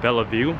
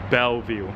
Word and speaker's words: Bellevue: called Belleville place no I was calling it Bella View but people are saying it's called Bellevue so now I pronounce